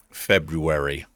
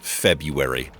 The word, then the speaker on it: February: With the R, it's F-E-B-R. Every person I have ever known has says February. But I don't think it's a silent R. I think you're supposed to say February.